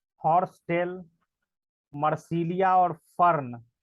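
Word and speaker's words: Marsilea: जो तुम पूछ रहे थे ना कि ये फर्न क्या है, मर्सीलिया, देखिए इससे आपका प्रोनाउंसिएशन भी बेटर हो जाएगा।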